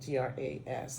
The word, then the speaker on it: Gras: and you notice that the S is silent g-r-a-s gra means fat um so on